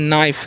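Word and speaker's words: knife: हुआ है यहां पर के एन आई एफ ई तो यहां पर के जो साइलेंट होता है तो इसे हम क्या पढ़ते हैं इसे हम लोग पढ़ते हैं नाइफ क्या पढ़ते हैं नाइफ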